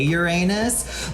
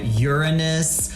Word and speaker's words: Uranus: I have to say, I love that astrologers today have found all new pronunciations for Uranus because no one wants to say Uranus. Like, I've heard astrologers call it Uranus, Uranus.